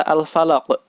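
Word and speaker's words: الْفَلَقِ: Untuk huruf qaf, cara memantulkannya yaitu dipantulkan seperti bunyi huruf O. Po. Al-falaq.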